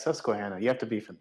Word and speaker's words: Susquehanna: on doubling down did you have a seizure pronouncing yeah it's susquehanna you have to be from the east coast